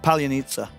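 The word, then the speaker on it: Palianytsia: So you don't pronounce the I at the end at all? ChatGPT. No, it's like a sa, I believe. Palyanitsa.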